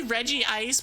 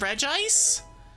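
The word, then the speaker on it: Regice: It should be Reggie Ice by Pokemon being dumb. Do they say that you're supposed to pronounce it re ice? Cuz if they do, they're wrong.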